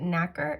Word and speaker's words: nacre: mollusk secretes a substance called, I think I'm pronouncing this correctly, but nacre.